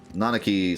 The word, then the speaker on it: Nanaki: the people um I like the uh pronunciation of nanaki I've always said nakaki I feel like most people have said it that way but nanaki sounds cool too and it feels like it's closer to uh Native American pronunciation my limited knowledge of